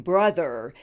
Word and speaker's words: brother: are some helpful hints the O in brother is pronounced as a short vowel you like in the word up and hush it is a quick vowel the th has a voice I will do this